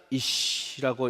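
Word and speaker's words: אִישׁ: 그래서 시 발음이 납니다. 쉬 발음이 나요. 그거를 쉰이라고 합니다. 굉장히 쉽게 지금 가르치고 있는 건데 이해가 되시죠, 다들? 그래서 어떻게 한다? 어떻게 읽는다? 이시라고 읽습니다.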